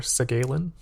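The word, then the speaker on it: Segalen: In the early 20th century, French critic and also, I believe, writer, poet, Victor, I think it's pronounced Victor Segalin, he argued that exoticism could promote diversity.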